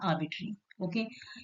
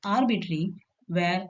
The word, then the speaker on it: arbitrary: word, which is called arbitrary. Okay? In American English, it is pronounced as arbitrary, where R is pronounced clearly, but in British English, R is not pronounced.